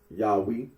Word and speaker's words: Yahweh: very uh significant here when you say Yahweh uh the scholarly consensus is that the original pronunciation of the tetr gron was yahi and uh Rino agrees